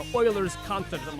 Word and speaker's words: Euler: I remember I read something the day that was talking about like Euler's constant or something like that, and it specifically said pronounced Euler, and I was like, yeah, it's Euler.